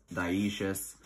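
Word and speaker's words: dioecious: monicious and dioces um which again looks like dialysis but it's dioces um these are just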